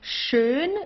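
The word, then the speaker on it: schön: no hushed or anything like that okay so shun is nice or beautiful shun here you have an S it's pronounced exactly the same way as the sh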